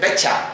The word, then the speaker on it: betcha: pronunciarlo muy rápidamente, o mucha gente en lugar de decir I bet you that, dice betcha, ¿no? ¿Tú lo has oído alguna vez, Laura? ¿Puedes pronunciarlo? Betcha, ¿no? Betcha. Betcha es I bet you.